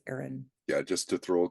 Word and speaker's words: Aeryon: So like people think it's Arian, but it's Aaron.